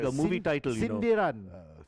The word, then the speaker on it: sindiran: Sindiran. Sindiran, correct. Bukan sinaran, bukan Oh, sindiran.